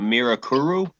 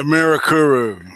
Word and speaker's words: Mirakuru: do you pronounce that the mirakuru yeah miracle the mirakuru that's right it means miracle yeah it's just like